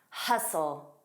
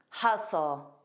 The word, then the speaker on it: hustle: Now listen to this word, hustle, hustle. You'd better hustle, you'd better hustle. Notice here the T is not pronounced. It's not a soft D, it's not a glottal stop, it's completely silent.